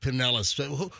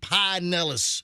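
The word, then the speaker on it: Pinellas: I've always said Penllis. Who are the folks that say Pine Nellis? The Hillbillies. Pod Nellis. Listen, I mean, Penllis County is pretty civilized now, but Nellis.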